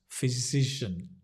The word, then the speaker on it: physician: checkup Juliana it says it sounds like saying the word decisions cision physician yeah it's a good